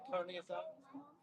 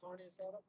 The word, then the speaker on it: carne asada: You say carne asada. You gotta say carne asada.